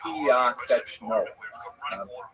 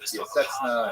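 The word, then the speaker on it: Piaseczno: 14 kilometers outside Warsaw, which is pronounced in Polish, Piyasechno. Since there's a couple of sounds there that are hard to reproduce in both English and Hebrew, it's sometimes rendered Piyasechna and Piyasechno, things like that, but Piyasechno is the correct pronunciation.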